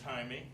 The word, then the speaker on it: Jaime: My name is Jaime, like "Hi, me."